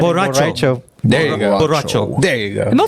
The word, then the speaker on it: borracho: Oh, borracho. Nando. that's- Got one right. Good job. You're supposed to roll the R's. Hey, Borracho. There's a character in Mortal Kombat named Borracho. Borracho. there you go. Borracho.